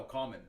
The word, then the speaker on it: COMMXN: And so we pronounce it common.